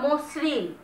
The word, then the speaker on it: মসৃণ: আর লক্ষ্য করে উচ্চারণটা মসৃণ, মসৃণ, আমরা কিন্তু বলছি না মসৃণ, এস এর মতো উচ্চারণ করছি না, পুরোপুরি উচ্চারণটা করছি এস এর মতো, মসৃণ। যেহেতু এসটা অনেকটা ঘৃষ্ট ধ্বনি, মানে ঘষে ঘষে উচ্চারিত হয়, এই কারণে দন্তস্বটা এখানে দ্বিত্ব উচ্চারিত হচ্ছে।